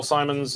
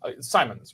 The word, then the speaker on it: Simon: So the latest governor general, Simons, is in trouble. Simons, right? That's how you say it? Simon. Mary Simon.